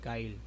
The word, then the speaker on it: Kxle: isa sa kanta ni Kyle so ang basa ko dito kxle KL ginanon ko pa nga ang sabi saakin ng isa Kyle daw ang pagpronounce diyan so Kyle shoutout SAO Ayan